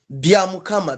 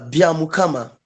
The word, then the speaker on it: Byamukama: Godfrey and now please uh help me to pronounce byamukama yes byamukama byamukama yeah yes yes good my name is we